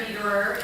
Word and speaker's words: Dederer: I'm Claire Dederer, is how you say my last name, and I so appreciate